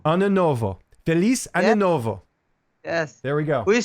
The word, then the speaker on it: Feliz Ano Novo: Feliz Ano Novo. Ano Novo. Feliz Ano Novo.